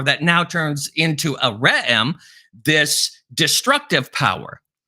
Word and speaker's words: re'em: And it's called a re'em. It's spelled R-E apostrophe E-M, or ram, a beast that was